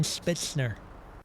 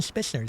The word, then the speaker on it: Spitzer: uh uh spitzner Melvin spitzner Melvin no why are you say it like that it's Melvin Spitzer say it normal thank